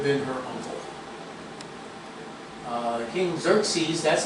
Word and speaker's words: Xerxes: morai might have been her uncle uh King Xerxes that's how you pronounce it is the ruler of Persia hmon